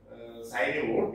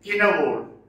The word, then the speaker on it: Cynewulf: It is not pronounced as Cynewulf, it is Cynewulf.